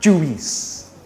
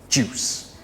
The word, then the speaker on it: juice: apple juice grape juice it's not juice it's a one syllable word juice this next word is